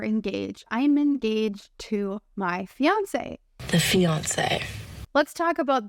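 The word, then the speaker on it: fiancée: French language fiance and fiance and if you're wondering whether or not these two words have different pronunciations the answer is no when a man and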